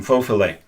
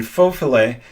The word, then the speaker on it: faux filet: The thing is, in faux filet, she doesn't pronounce the I in French properly. The I in French for faux filet is not like in English, and it's supposed to be pronounced faux filet.